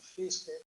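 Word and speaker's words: Fiske: teóricos se llama Susan fisk no s se pronuncia fis tiene ahí la foto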